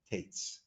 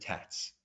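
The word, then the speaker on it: Tatz: Okay, that is an explanation that I heard, I think, from or in the name of Rabbi Akiva Tates. He pronounces it Tats, Rabbi Akiva Tats.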